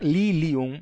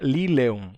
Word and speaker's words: lilium: É para ser lilium mesmo, mas as pessoas pensavam, se vinea, na verdade, se escreve corretamente como vinea, então lilium, talvez a forma correta seja lileum. E as pessoas escreviam lileum e ele diz, opa, não é lileum, é lilium mesmo.